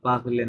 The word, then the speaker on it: parle: কোনোটাই নেই, তো পাগলে বলতে পারবেন না, পাগল হবে, কারণ এটা সাইলেন্ট, এই লাস্ট এটা সাইলেন্ট। তাহলে থাকলো কয়টা? 4টা লেটার। পাগল, এল পর্যন্ত উচ্চারণ করে থামতে হবে।